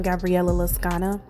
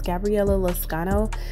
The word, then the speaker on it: Gabriella Lascano: say throughout this video i keep saying gabriella loscana and it's gabriella loscano it's just that i was trying to say it like her and it didn't quite work out because i kept putting too much emphasis on the o and it was coming off as an a so i apologize for